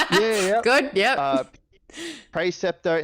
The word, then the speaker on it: Praeceptor: Praeceptor instead of Praeceptor. Stuff like that. It's. Are you 100% sure it's a hard C on that one? Pretty sure.